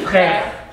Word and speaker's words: Frère: Mam Shikara start a real pronunciation work with the children so they understand and learn new things. Ferry, is that right? Ferry. Frère.